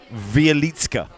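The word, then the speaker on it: Wieliczka: a place beginning with a W which is pronounced vitka vitka I'm not going to be able to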